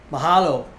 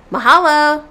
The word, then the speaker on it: mahalo: you next time how do you say the mahalo mahalo that means thank you in hawaiians mahalo brah did you say bra special hello bro mahalo brah bye